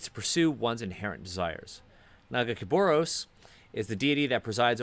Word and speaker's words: Nagakabouros: A god often Nagakabouros, I think, is what Nagakabouros. I think that's the way they pronounce it in the like game, or that's the way specifically Alawi pronounces it.